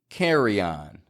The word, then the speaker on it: carry-on: between the words like carry on however just like prior priority carryon can release that Y sound y Yan to connect your speech seamlessly sometimes that you might